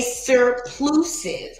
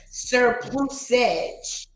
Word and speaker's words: surplusage: Wait, I didn't even pronounce it right. Surplusage. There we go.